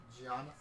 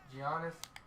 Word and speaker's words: Giannis: The Greek freak, Giannis. Giannis.